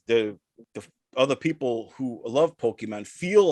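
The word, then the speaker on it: Pokémon: some say it as pokemon pokemon so the emphasis is always on the first syllable but the middle syllable is where pronunciations vary some say it as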